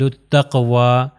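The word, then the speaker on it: التقوى: اب یہاں پر آپ یہ دیکھ سکتے ہیں کہ یہ یا بھی جو ہے نہیں پڑھا جائے گا، اس کے اوپر جو کھڑا زبر ہے شورٹ الف ہے وہ بیسیکلی واو کا ہے، تو وہ ہو جائے گا اہل التقوی. اگر میں کہوں اہل التقوی یا کہوں تو غلط ہو جائے گا، یہ یا پروناؤنس نہیں ہوگا.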